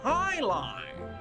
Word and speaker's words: jai alai: It's pronounced Highline.